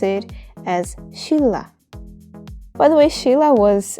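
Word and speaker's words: 신라: example the word for Silla it's written as Shinra but we have to pronounce it as Sheila by the way Sheila was a Korean Kingdom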